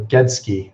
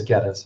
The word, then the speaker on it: Geddes: this guy named Dave get us or get he's like sorry shoot I forgot how to say his name I can't remember gets key okay so I was totally wrong I know it is Geddes okay so sorry gave